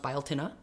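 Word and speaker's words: Beltane: Now I've also heard that Mayday or biotin looks like belt but it's pronounced biotin.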